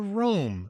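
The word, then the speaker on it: Rolm: shoulder is a well-lit sign which is the Rome sign so for the listener who may not know the Rome name is spelled r o l m as in Monday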